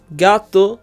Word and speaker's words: gato: example gato means cat gato ends with an O which is a vowel we must therefore stress the second to last syllable there are two syllables in gato GA two and we do stress the second to last syllable we stress the ga part so since gato follows